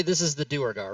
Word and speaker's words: Duergar: Just say it in its 3 parts by looking at how it's spelled. Duergar.